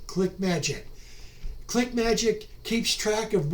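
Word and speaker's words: ClickMagick: competitive also invest in click magic click and then magic is spelled m a g i c k that's m-a-g-i-c-k click magic click magic keeps track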